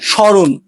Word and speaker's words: স্মরণ: শব্দের শুরুতে মফলা থাকলে মফলার উচ্চারণ হয় না। যেমন স্মরণ, শ্মশান।